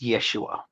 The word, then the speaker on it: Yeshua: now call Jesus, but his name was probably better pronounced Yeshua, and that he would have been executed by crucifixion.